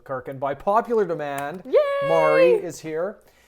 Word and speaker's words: Maree: And by popular demand, Mari is here.